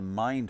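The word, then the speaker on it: Mynd: And the one across the road, that one over there, is the Mind Hotel, and it's spelled M-Y-N-D.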